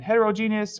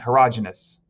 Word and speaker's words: heterogeneous: The two types of mixtures are what are called homogeneous and heterogeneous, or sometimes you hear homogeneous and heterogeneous. It's kind of pronounced both ways, so whichever you prefer is fine.